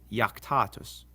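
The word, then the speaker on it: iactatus: If a word begins with an I and the next letter is a vowel, like in these words, it's actually a consonant and sounds like our Y. So these are pronounced yam, yuno, and yaktatus. Also, when the I is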